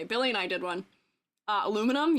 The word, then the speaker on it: aluminum: Aluminum? Yeah, I don't say aluminium. I'm not British.